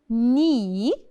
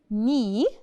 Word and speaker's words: knee: And we have knee. knee, and the K is silent, so we don't say the K. knee اللي هي الركبة.